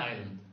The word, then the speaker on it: island: Island. But why is it not Iceland or Iceland? Yes. Where did this S, a silent S, which is a strange thing to have.